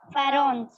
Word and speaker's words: pharaohs: देखो ये पीएच है ना, ये पीएच, इस पीएच को अपन एफ प्रोनाउंस करेंगे। क्या प्रोनाउंस करेंगे? एफ। ठीक है, इसको तुम लोग एफ बोलना है, एफ। इसको पीएच मत बोलना।